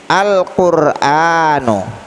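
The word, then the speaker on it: القرآن: Al-Qur'anu, ya, Al-Qur'anu. Kenapa alnya kita baca dengan terang? Karena qaf adalah huruf qamariyah. Jadi cara membacanya Al-Qur'an.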